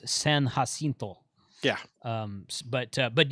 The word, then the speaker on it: San Jacinto: i think mike's activated sand jack hasn't he he has yeah well he's activated the battleship i assume he's probably done uh uh the the correct pronunciation of that is san jacinto yeah um but uh